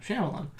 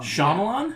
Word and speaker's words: Shyamalan: Shyamalan. No, you said it wrong. Shyamalan?